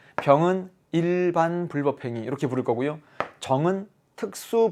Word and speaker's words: 불법행위: 않나요 어 근데 선생님 강의를 앞으로 계속 들으려면 불법행위 라는 발음에 익숙해지는 게 좋습니다 선생님은 계속 불법행위 라고